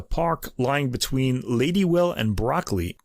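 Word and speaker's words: Brockley: lying between ladywell and broccoli not like the vegetable it's spelled b r o c k l y in southeast London so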